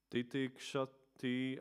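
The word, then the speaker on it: titikṣati: And when there is a dot above S, like in the word, then you put the tongue up, shashvat, like that word, shashvat.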